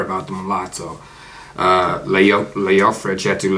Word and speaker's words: Leofric: I think it's Leofric.